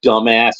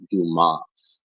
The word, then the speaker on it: Dumas: a job and he keeps calling the guy dumbass through the whole thing, and then at the end the guy's like doing the interviews like the name is pronounced Dumas.